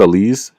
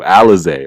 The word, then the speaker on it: Alize: how to pronounce oh alize my fault i said elise alice whatever his uh i said i would say the leaves this whole time alize i'm sorry i'm sorry alize alexa johnson i got